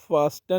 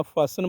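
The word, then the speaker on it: fasten: इसी तरह फास्टन नहीं बोलना, फासन बोलना है।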